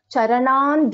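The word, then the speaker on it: चरणं: So, but in the fourth line I pronounce this as Charanan Dhyayet.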